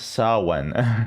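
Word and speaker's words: Samhain: Yeah, let's look up uh I guess Sam Hine pronounced Sawen.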